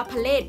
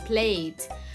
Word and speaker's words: plate: จาน เห็น ไหม คะ เรา จะ ไม่ อ่าน ว่า พาเลท พาเลท นะ คะ เรา อาจ เป็น ควบ กล้ำ ไป เลย plate ต่อ มา คำ ที่